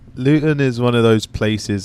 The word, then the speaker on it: Luton: Luton is how you pronounce it. Luton.